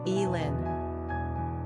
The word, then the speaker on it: Elin: two ranking popularity 815 pronunciation E Lynn simple meaning ray of